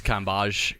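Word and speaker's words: Cambage: feel like an idiot I thought it was L Cambridge no kage you for clarifying that well this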